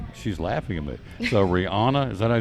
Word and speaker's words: Rihanna: and the halftime show is going to be Rihanna I guess I say her name Rihanna I Love Her am I saying it right